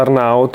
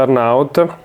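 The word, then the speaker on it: Arnaut: A me piace tantissimo, non mi ricordo se si pronuncia Arnout. Mi sa che si pronuncia Arnout.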